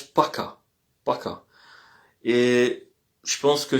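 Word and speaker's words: пока: Private salut lorsqu'on voit la personne et lorsqu'on quitte la personne on dit paka. Alors c'est écrit poka mais ça se prononce paka.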